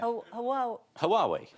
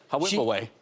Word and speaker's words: Huawei: How am I going to say this? Someone help me out. Huawei. Huawei.